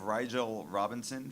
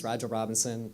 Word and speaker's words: Rigel Robinson: Next up, we have Rigel Robinson from the UC Student Association. Pronounced it correctly. Thank you so much. All right. Hi, good afternoon. My name is Rigel Robinson.